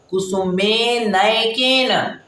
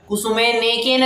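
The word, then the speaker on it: कुसुमेन केन: बार फिर से पढ़ा कुसुमे न केन अच्छा उच्चारण करते वक्त भी ऐसे ही पढ़ना कुसुमे ने केन नहीं पढ़ना कुसुमे न केन छोटी ए की मात्रा बड़ी ए की मात्रा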